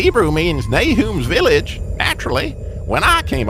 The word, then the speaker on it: Nahum: kind of call me Nahum. That's the way my mama pronounced it. I'll bet you say it the Bible way. Yeah, that's right, Nahum. Nahum is the Hebrew pronunciation. Nahum is more Americanized.